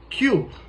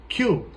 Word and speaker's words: cube: When there are two vowels in a word, it normally takes the long vowel sounds. For example, Q. C U B E. Q. You have to pronounce C U B. Why? Because the first vowel is U and the last vowel is E. And the vowel E is silence.